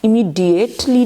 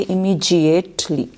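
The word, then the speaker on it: immediately: अच्छा, इसमें अब याद रखिएगा इमीजिएटली को कैसे प्रोनाउंस करते हैं? DIATELY, इमीडिएटली नहीं करते, इमीजिएटली। जी, इसमें से डी में से कौन सी आवाज़ निकलती है? जी, इमीजिएटली। Okay, इमीजिएटली। डीएटली नहीं निकलेगा, इमीजिएटली।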